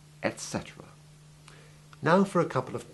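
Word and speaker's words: et cetera: It is almost always found abbreviated to etc, full stop, in writing, but it is always pronounced in full, etc.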